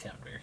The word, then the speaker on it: Camembert: I think it's pronounced Camembert, yeah.